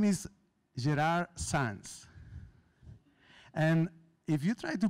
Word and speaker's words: Gerard Sans: so my name is Gerard sands and if you try to pronounce it you need to know that I'm from Barcelona and this is Catalan so it's not even Spanish which is more easier